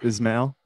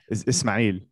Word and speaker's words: Ismail: I grew up in America, so it's Ismail, and then Ismail. The correct way to say it in Arabic is Ismail.